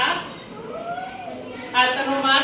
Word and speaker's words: อัตโนมัติ: ค่ะ ใคร คะ อัตโนมัติ ไม่ ออก เสียง เก่ง มาก ครับิกา